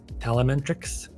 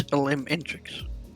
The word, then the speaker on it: Elementrix: Yeah, can I just say I'm being told how to say this name correctly? It's Telementrix. There we are. No, it's Elementrix.